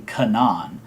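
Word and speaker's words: Canaan: n a a n um the characters uh pronounce the character's name Kanan um in it but you know that could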